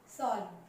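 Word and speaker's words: solemn: सॉल्व। सॉल्व का मतलब यहाँ पर देखिए एन है वो साइलेंट है।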